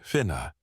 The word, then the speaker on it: fine: In early Irish society, land was typically held not by individuals in the modern sense, but by extended kin groups or fine pronounced roughly fa.